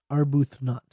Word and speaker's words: Arbuthnot: Arbuthnot I was mispronounced that one our booth not epistle and an epistle